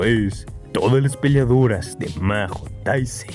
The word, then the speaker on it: Majo Taisen: todas las peleadoras de Mahou Taizen, o Mayo Taizen como se debe de pronunciar.